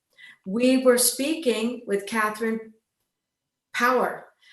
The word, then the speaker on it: Paour: were speaking with catherine power i just want to call her last name something else because it's spelled p-a-o-u-r but her last name is power catherine power and the